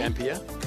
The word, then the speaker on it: Dampier: of the dampier Peninsula am I pronouncing that right Fitzy dampa yes dampa Red Rocks white sand